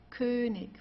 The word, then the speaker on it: König: Also hier haben wir ich, Essig, König. Okay? Also hier am Ende, das wird eher wie ein K ausgesprochen oder manchmal wie ein H, also wie du möchtest.